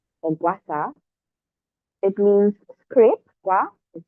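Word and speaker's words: Gua sha: me tell you what Gua is so I pronounce it the correct way it's guasa or guasa it means scrape Gua is scrape and sa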